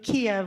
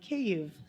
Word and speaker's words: Kyiv: We fly to Kiev, which is pronounced actually Kyiv, so that you know.